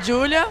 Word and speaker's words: Júlia: Só não pode errar a pronúncia, né? Porque se falar Júlia, a italiana vai entender que é pra ela. Tem que ser Júlia.